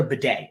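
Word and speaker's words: Badie: interview where he said, I want to be called Tyler Bidet now. He changed the pronunciation of his name.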